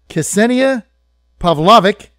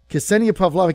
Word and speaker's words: Ksenija Pavlovic: I did that good Ksenia Pavlovic in fact I had to ask ascending it to send me a an audio tape of how to say her name and I practiced it Ksenia Pavlovic she's the editor-in-chief of